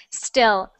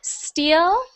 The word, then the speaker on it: still: So steal, with the two first ones you wrote there in the chat are both the same sound. Steal, steal. Then there's still. So we have E, I, E, I, E, I. So we have steal and still.